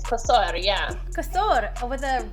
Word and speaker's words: Kosor: did a really good job there most cannot pronounce it it's Cur yeah kasur with a r r at the end I